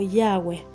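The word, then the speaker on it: Yahweh: significa la palabra yud jeab ge que se pronuncia como yahwe es yud jeab Y esto es lo que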